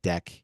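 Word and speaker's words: deque: import this package called This is pronounced deck even though it's spelled dqe stands for double-ended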